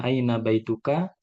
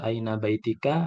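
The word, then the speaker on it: أين بيتك: Ketika kalian mengatakan bertanya aina baituka, jadi di situ juga marfu. Aina baituka, jangan dibaca aina baitika atau aina baitaka. Tetap kedudukannya marfu.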